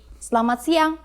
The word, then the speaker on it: selamat siang: If you need to greet someone in a formal situation, say selamat siang.